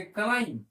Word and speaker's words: climb: CLIMB, इसको बी यहां पर साइलेंट है, हम लोग बोलेंगे क्लाइम।